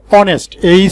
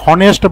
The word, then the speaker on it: honest: অনেস্ট বয়, অনেস্ট, HONEST। এইখানে যে অনেস্টের উচ্চারণটা হয়েছে আমরা কিন্তু এখানে এটাকে হনেস্ট বলি না, আমরা বলি এটাকে অনেস্ট।